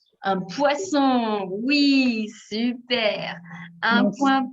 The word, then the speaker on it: poisson: oui bouge à un poisson oui c'est super un point pour pouget bravo attention à la prononciation ces poissons avec le censeur pas confondre avec poison avec un seul ace super un poisson